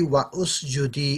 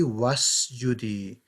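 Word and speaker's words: وَاسْجُدِي: So it's not going to be wa usjudi, it's just going to be wasjudi. That's the tajweed rule. It's just going to become wasjudi.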